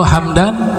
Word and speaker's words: Hamdan: Kalau Hamdan mimnya dibaca sukun, Hamdan ismu Gobilah.